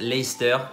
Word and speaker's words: Leicester: leicester square voilà donc vous l'avez lu laisser ce terrain mentez pas un on le sait sauf pour ceux qui habitent déjà à londres mais voilà il se prononce à leicester donc ben fait oublier jusqu'à partie du milieu owen fait le ca se prononcent pas c'est comme ça voilà